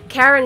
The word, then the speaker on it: Charon: So, Charon is obviously beautiful anyway, but also the fact that Zagreus and some other characters pronounce his name the same as Chiron is just so funny.